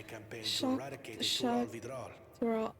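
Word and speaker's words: Xak Tural: Our brother was in Shaktural leading the Landsguard on a campaign to Shock- eradicate the shock- Tural Vidral. Tural. Oh, that's how you pronounce it. I've been saying Zach Tural.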